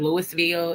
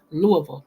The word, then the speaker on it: Louisville: tell you something Louisville and that's how we pronounce it's not Louisville it's not live it's Lou see L Louisville okay that's how we pronounce it here uh